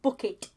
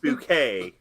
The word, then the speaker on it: Bucket: this movie to hyacinth bucket well first off it's pronounced bouquet i i i assured